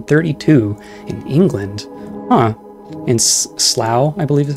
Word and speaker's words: Slough: In Slough, I believe is how you pronounce that.